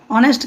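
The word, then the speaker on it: honest: क्या हो रहा है ऑनेस्ट के जगह पे ऑनेस्ट पढ़िएगा ऑनेस्ट नहीं पढ़ा जाता है क्या पढ़ा जाता है ऑनेस्ट पढ़ा जाता है ऑनेस्ट यानी इसमें एप्स साइलेंट हो जा रहा है तो इसका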